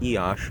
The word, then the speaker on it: Iași: We're heading from Sibiu, where we are now, to Iași, if I'm pronouncing that correctly. I believe it's Iasi. It's pronounced Iași, and I wanted to document our trip here on this bus.